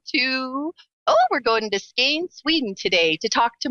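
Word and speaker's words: Skåne: So you are in, do you pronounce it Skane, Sweden?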